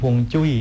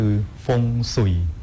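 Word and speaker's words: 風水: เป็น สิริมงคล จริง ๆ ฮวงจุ้ย เนี่ย เป็น ภาษา ใต้ จิ๋ว ถ้า หาก ออก เสียง เป็น ภาษา จีน กลาง คือ ฟง สุ่ย ฟง แปล ว่า ลม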